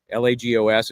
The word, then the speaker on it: Lagos: Lago L agos. It's pronounced Lagos, is a bigger town, kind of a very popular tourist area.